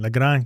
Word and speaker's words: Lagrange: Lagrange. Yeah, no, I'm not. You got to roll the R, man.